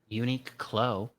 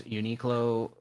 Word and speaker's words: Uniqlo: Uniqlo. Uniqlo. Oh, that makes a lot of sense now. Like unique clothes. Like unique clothing. I get it now. Yeah, the only thing that stinks about these Uniqlo things, they're always pretty expensive.